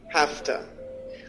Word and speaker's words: have to: we use have to one way to change the pronunciation is saying hafta I have to work